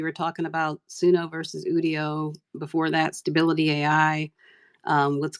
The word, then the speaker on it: Udio: I was like, "Okay, is it Udio? Is it audio without the a? Like, how do you pronounce it?" And he said Thank you. internally, everybody at the company calls it Udio. So literally everybody I've heard talking about it so far has been saying it wrong, but at the company they call it Udio.